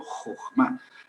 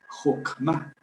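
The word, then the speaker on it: חכמה: Jogma. Al final se puede poner una h, pero como es totalmente muda, pues eh la palabra chocma. Eh, bueno, si un si un un alemán lee eso, leería. Jokma, porque es ch suena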